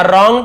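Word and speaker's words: wrong: संग हो गया अ रंग ट्यून रंग डब्लू सा जैसे राइट लिखते डब्लू आर टी तो डब्लू साइलेंट होता है यहां पर भी डब्लू से रंग मस पढ़ेंगे रंग नहीं पढ़ेंगे ट्यून इसे भी ट्यून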